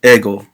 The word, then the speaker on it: ego: and Ergo somewhere um it's not Ergo sorry it's ego there goes where yes